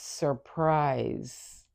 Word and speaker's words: surprise: So even though this is spelled with an S, the sound is that of a Z. So it's surprise.